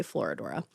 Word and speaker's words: Florodora: 19th century stage play Florodora. I always feel like I'm saying it wrong, but I did Google it and it's Florodora. Oh, look at that.